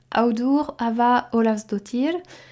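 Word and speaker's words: Auður Ava Ólafsdóttir: romancière islandaise qui s'appelle alors attention pour la prononciation audour Ava Olav dotir euh elle a déjà écrit neuf livres il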